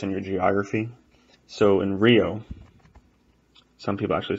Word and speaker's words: Rio: So in Rio, some people actually say Rio. But in general, most of Brazil, you would just say Rio, right? Imagine there's an H there. Rio. Rio.